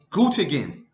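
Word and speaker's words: Göttingen: up with these Concepts G is spelled g-o-t-t-i-n-g -e-n very simple gut again this is the University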